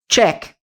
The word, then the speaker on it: check: Do mesmo jeito que nós falamos a nossa palavra tchau em português, sabe? Tchau. Tch. T tch. T t t tchau. Check. Então esse é o som.